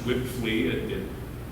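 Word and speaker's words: Wipfli: Gibson, prior to his retirement, was able to locate this company, pronounced Whipflea, odd name, but that's the auditor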